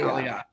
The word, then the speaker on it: Aliyah: Is it Aliyah or Aliyah? Oh, Aliyah, actually. Aliyah.